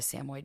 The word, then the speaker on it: Samoyed: I don't know if you know what a Samoyed dog is.